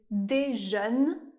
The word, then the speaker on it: déjeune: Par exemple, dans le mot déjeune. Le dernier son de la syllabe est le son /n/. Mais dans le mot déjeuner, le dernier son de la syllabe est le son /ø/.